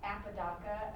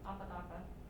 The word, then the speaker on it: Apodaca: Apodaca, A-P-O. Apodaca, how do you say it? Apodaca. Apodaca.